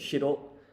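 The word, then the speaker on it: 白: And so the pronunciation here is shiro and aka.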